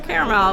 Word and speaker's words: caramel: If you want to put in the comments below how you say it, is it caramel or caramel? But I say it's caramel. There's an A in it.